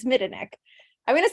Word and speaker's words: Midanik: I've always said Midanik, and that's not right. It's Midanik.